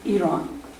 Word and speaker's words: Iran: information about my country, Iran. First, learn how to say the name of the country. The syllable is ear, not I. Iran, Iran, not Iran.